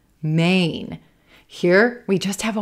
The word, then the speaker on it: Maine: We want to make sure we hear A, Maine, Maine. Sometimes that N consonant can mess with our vowels. So Maine might sound more like min, min. You want to get that full gray day, A, Ain, Maine, Maine.